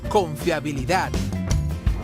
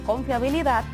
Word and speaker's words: confiabilidad: la última sílaba decíamos que si la palabra tiene la fuerza o la sílaba tónica en la última como en el caso de confiabilidad es aguda pero porque confiabilidad no se acentúa cuando